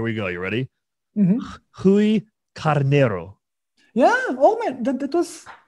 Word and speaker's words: Carneiro: Rui Carneiro. Yeah. Oh man, that was kind of perfect. Fine. Okay. What did I mess up on? I want to make sure. It's Rui Carneiro. Carneiro.